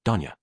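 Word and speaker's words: 丼屋: TL note, store is pronounced as Danya.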